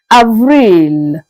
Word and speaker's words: avril: Avril. Avril. Again, Avril. Let's go up and see how we pronounce May, the month that we are in right now, that started just yesterday.